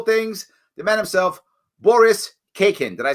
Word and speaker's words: Khaykin: Khaykin. It's a silent K in the beginning of my last name. I was testing you. You got it right. Well done. Yes, Khaykin.